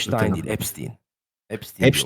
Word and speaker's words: Epstein: Epstein. Epstein. Epstein. Orijini büy Almancadan Epstein diye okunur ama şu an Amerika'da s ile okuyor kendi şeyleri. Evet. Steen olarak mesela Spielberg'e Spielberg demiyorlar.